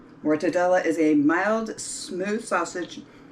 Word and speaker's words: mortadella: ahead and make the montebello i'm sorry i'm pronouncing this wrong it's more todela mortadella is a mild smooth